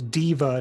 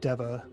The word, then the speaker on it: Diva: It's Selune, just like it's Diva, not Deva. I've heard it Whoa. both ways. Well, the Forgotten Realms wiki says it's Diva, so I've heard it both ways.